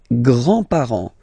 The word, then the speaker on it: grands-parents: Les grands-parents. Les grands-parents. Remember, you don't pronounce this final S here. Grands-parents, okay? So, le grand-père, grandfather.